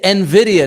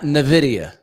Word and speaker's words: Nvidia: I'm like, man, it's like it's like it's Nvidia, not Nvidia.